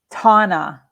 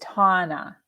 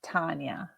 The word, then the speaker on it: Tana: just mispronounced it again tana it's tana not tanya tana i did the